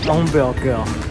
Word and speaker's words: hamburger: 是我朋友教我的，Hamburger，后面的 R 要发 H 的音。好难哦，Hamburger 有比较浪漫吗？The Hamburger，好啦，吃下一个。